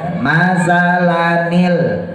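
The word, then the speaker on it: مثلاً: Hamzah satu kata masalah nil bacanya bukan masalah kaummu tapi harokatnya harus kasroh Ya masalanil Allah jangan lupa ujung lidah keluarin tempelin ke gigi atasnya panjang mad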